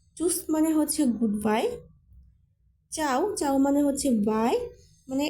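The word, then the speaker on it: ciao: দুইটার মিনিং প্রায় একই এখানে চাওটা হচ্ছে একটা ইটালিয়ান ভাষা তাই বলতে পারেন এখানে যে নিয়মগুলো যুক্ত বর্ণগুলো দেখিয়েছিলেন উচ্চারণ করার জন্য এটার সাথে তো মিলতেছে না মিলবে না কারণ এটা হচ্ছে একটা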